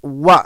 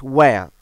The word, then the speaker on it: were: We were, because the pronunciations of the word W-E-R-E is wa, not where.